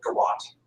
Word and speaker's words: garroting: They would do these big public garroting. Well, this will get back to the United States. And if you see garroting or garroting, it depends on how you pronounce it, both are proper, I think.